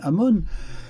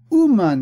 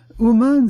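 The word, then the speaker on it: אומן: Aleph Mem Vav Nun, Amon, mais il dit ne prononce pas Amon, mais Ouman, il faut bouger le Vav. Ouman, c'est un artisan, un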